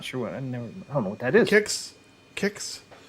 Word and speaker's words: Kix: just for Su sign it's pronounce kicks kicks never heard of it kicks kicks yeah kicks remember the Cal